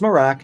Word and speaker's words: Merach: So, overall, the Morack, again, it's pronounced Morack, not Morocco, Ultra Walk